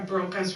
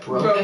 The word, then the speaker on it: Broca: his endocast, it looks like he had a Broca's region, which is an area of the brain that is specifically tied to language. And not just how do you say that? Broca, Broca.